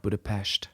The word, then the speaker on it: Budapest: with you again also it's pronounced Budapest oh sorry